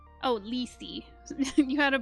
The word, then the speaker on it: Lethe: Okay, second is my most recent Sona, an albino muntjac deer raven, pronounced Lethe.